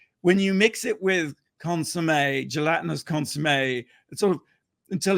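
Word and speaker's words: consommé: American listeners out there consum it's consum is how we pronounce it like okay yeah consum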